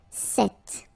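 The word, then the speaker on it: cet: if you listen carefully the masculine form here set and The Feminine form here set you write them differently but then you pronounce them the same way all right for the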